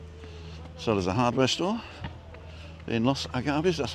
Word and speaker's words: Los Agaves: So there's a hardware store in Los Agaves, that's how you spell it, L-O-S-A-G-A-V-E-S, but the V is like a small B.